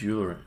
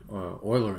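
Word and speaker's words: Euler: don't have to use uler Oiler angles I mispronouncing the whole time Oiler angles can use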